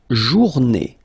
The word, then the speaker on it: journée: Then, la journée. La journée, final not pronounced, and it's day.